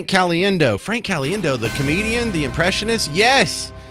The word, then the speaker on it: Caliendo: things he said Frank Caliendo yeah you spell it C alien do and I have always